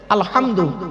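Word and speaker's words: الحمد: আলহামদু, এই গলার ভেতর থেকে হেটা উচ্চারণ করবেন।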